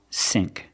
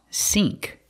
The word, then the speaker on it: sync: it's out of syn the word is not pronounced SN SN it's pronounced sink I have to use the long e like green beans sink it's out of